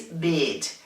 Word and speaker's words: beat: And this word is beat. Beat is spelled B-E-A-T and it's pronounced beat. We have to lengthen the vocal sound and we have to smile because otherwise we'll say bit, which means un poco, a bit, un poco, bit, bit.